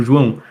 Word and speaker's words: João: Aí eu falei, meu nome se pronuncia como João.